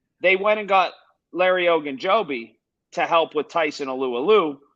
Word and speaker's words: Ogunjobi: And I can't even pronounce his name. What's his name? Ogunjobi? Ogunjobi, yeah.